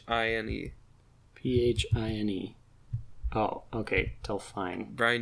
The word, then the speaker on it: Delphine: this pronounce it she's British how do you spell it d elph ine pH ine oh okay tell fine Brian D seer pink hair yes so I